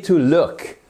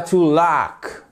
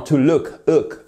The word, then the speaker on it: look: Yes, exactly, to look. C'est un ou court. Vous voyez ici, ça ne se prononce pas de la façon suivante. Ce n'est pas to look. Non, to look, avec la gorge.